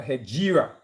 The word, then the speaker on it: Hegira: HEGIRA, as you know, HEGIRA, in fact, is the proper pronunciation of the word.